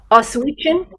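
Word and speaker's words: Oświęcim: And it looks like it's going to take place in, how did you pronounce it? Oswiecim.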